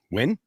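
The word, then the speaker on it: Nguyen: Win Vinwin. Vinwin. Ngen is win. Vietnamese name that is when yeah access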